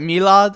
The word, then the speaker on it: Milad: This was asked by a fellow Milad, and the pronunciation of my name is Milad as I just said it. Or some people in my country call it Milad, but I'm a substitute teacher's worst nightmare, let me tell you that.